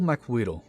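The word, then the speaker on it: macuahuitl: Included in the set is a two-handed weapon, the dual Makwawito. The dual Makwito. Yeah, that's really how it's pronounced.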